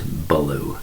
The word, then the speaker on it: Belew: Now, for those of you who have heard of Adrian Belew, and I had, sorry, it's not Belew, it's Belew. Sorry, just a bad pronunciation on my part.